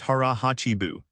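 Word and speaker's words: hara hachi bunme: This brings us to another powerful concept called Hara Hachibunme, pronounced Hara Hachibunme.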